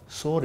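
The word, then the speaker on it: sore: சவர், சோர் இல்லை. நீங்கள் சொன்னீங்களே சோர்னு சொன்னீங்களே, சோர்னு ஒரு வார்த்தை இருக்குது. இது சோர், இது சோர். இதுக்கு என்ன தெரியுமா அர்த்தம்? புண்ணுன்னு அர்த்தம். இதுக்கு என்ன பேர்?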